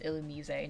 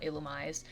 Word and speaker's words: Illumise: It's Illumise, not Illumise.